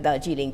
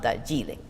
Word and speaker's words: Darjeeling: When I was working on Bengali intonation with Bruce Hayes he kept saying "But the stress is on the penultimate syllable". I said "No, stress is on the first syllable". "But that's what you're saying!" I said "No, I'm saying that Darjeeling, not Darjeeling.